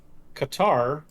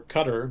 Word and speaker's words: Qatar: of influence there uh qatar or qatar depending on how you want to pronounce it is also a gulf